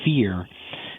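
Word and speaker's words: phere: My co-writer came up with this word fear. Sounds like the word fear, but it's actually P-H-E-R-E.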